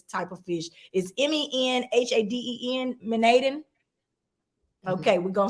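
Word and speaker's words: menhaden: the fish which were mostly uh I can't pronounce the name of this type of fish is m-e-n-h-a-d-e-n manadin okay we're gonna say that in Cantona Beach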